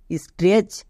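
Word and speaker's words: stretch: পুরোটার উচ্চারণ কি দাঁড়াচ্ছে এস টি আর ই সি এইচ স্ট্রেস বোঝা গেল এখানে টি সাইলেন্ট কেন কারণ টি এর পরে সি এইচ আছে তাই টি সাইলেন্ট এবার কোশ্চেন হচ্ছে যে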